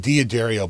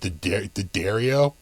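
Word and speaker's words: D'Addario: dario the dario i used to call it diaderio but they told me that's not how it's pronounced anymore now it's like the dario uh and they want uh you know uh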